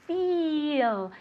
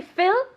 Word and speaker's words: feel: It's a long I, okay? It's feel. If we make it short, what does it mean? ¿Qué significa si lo hacemos corto? Let's see if Maman knows. If I say fill, Yes.